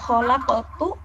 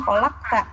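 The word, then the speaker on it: خلقتُ: Yang harusnya kholaqtu, yang harokatnya harusnya dhammah, ini dibacanya fathah. Jadi kholaqta, kamu telah diciptakan.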